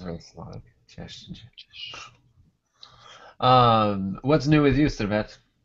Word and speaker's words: cześć: Am I saying just correctly or not? is Cześć. Cześć. Cześć. Yeah. Cześć. Right, like Yes. CH and oh, nice, Cześć. Oh, nice, good. So, Yes, sounds really Slavic. Cześć.